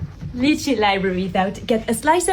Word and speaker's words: Lychee: Before I begin, yes, I know it's pronounced Lychee, but they pronounce it as Lychee, and out of respect for them, I'll do the same.